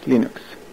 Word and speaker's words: Linux: Hello, this is Lenus Torvald and I pronounce Linux as Linux.